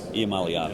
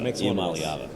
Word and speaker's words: Iamaleava: Iamaleava. Iamaleava.